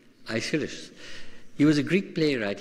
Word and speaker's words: Aeschylus: This man, I didn't know how to pronounce his name. How do you say his name? Aeschylus.